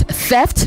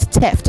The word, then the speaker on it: theft: It is theft, not theft. Okay?